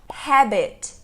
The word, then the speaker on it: habit: Olha só, o resto é tudo igual, mas são duas palavras diferentes porque elas têm o R ou o H. Habit, habit, habit.